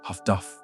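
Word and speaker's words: HF/DF: Improved sonar and HFDFs are high frequency direction finding pronounced Huffduff radio direction finding equipment that allowed escort ships to locate Ubot by triangulating their radio transmissions.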